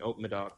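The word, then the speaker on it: Haut-Médoc: Hock Medoc is how you say it, or Haute Medoc? That's the sub-region, Haute Medoc.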